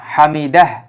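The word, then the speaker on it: حمده: বিস্তারিত দেখবেন তাহলে হামিদা হামিদাহ আমরা এই জায়গায় তখন হা এর উচ্চারণটা পূর্ণ উচ্চারণ হয় না যেটা আমরা সংক্ষেপে তখন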